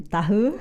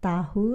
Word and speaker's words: tahu: Formally, people, you're supposed to say tahu, like saya tahu, like to say like I know. Oh, it's But usually you pronounce it tahu instead of tahu. Informally, tahu. tahu.